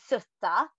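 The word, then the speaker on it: soote: So that means when April with his sweet showers, so you see sutta, mm-hmm. it's spelled different, but it is actually pronounced sutta.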